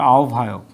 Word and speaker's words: আহ্বায়ক: তো এই হয় বয়ের আগে রস্যই আছে, সেজন্য এটা উভ হচ্ছে।